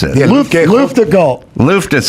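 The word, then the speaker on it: Luftgekühlt: How do you pronounce it? Yeah, Luftgekalt.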